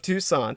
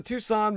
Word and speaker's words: Tucson: Ben personally at the Tucson murders. that's Tu s o n spelled like tuxen but put the word the in front of it the Tucson murders.